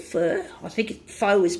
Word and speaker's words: pho: I sort written somewhere that's pronounced fur like if you are well of course we people who speak English fur is something you find on animals so but that's how they pronounce the word the letters the pho